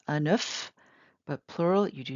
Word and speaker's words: un œuf: If it's a single egg, you pronounce the F. Un œuf, but plural, you do not pronounce the F.